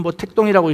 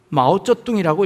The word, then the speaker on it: 마오쩌둥: 중국의 지도자였던 모택동, 우리는 모택동이라고 읽습니다. 그것은 한자로 쓰면 한자로 읽으면, 한국말로 읽으면 모택동입니다. 근데 중국 사람은 그걸 모택동이라고 읽지 않고 마오쩌둥이라고 읽습니다. 중국 발음이지요.